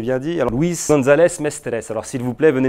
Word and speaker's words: Mestres: particules du CNRS, Luis González Mestre, ça se prononce comme ça? Le nom de famille? Mestres, c'est bien dit. Alors, Luis González Mestres.